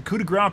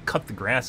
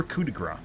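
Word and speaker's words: coup de grâce: sam pronouncing ben sam pronouncing coup de grace properly unlike other people calling cut the grass and other stupid things you have to scream nummy punch you while it's happening or kudigra either or and people are doing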